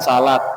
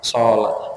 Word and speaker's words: sholat: Perbedaan antara sholat dan salat sami mawon. Sholat itu bahasa Arab, salat itu bahasa Jawa. Nggih, niku sami mawon, namung benten bahasa. Sholat. Kalau pengucapan sesuai dengan bahasa Arab yang betul ya sholat.